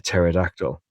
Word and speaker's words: pterodactyl: Why can't you hear a pterodactyl go to the toilet? The P is silent.